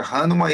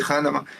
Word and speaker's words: Hanuman: Tem a pronúncia Hanuman e Hanuman é um deus macaco hindu, né?